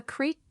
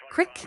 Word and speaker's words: creek: That's a creek or a brook, depending on where you grew up. Same idea, different accent. Okay, so not a cick. Crick is a dialect pronunciation of Creek.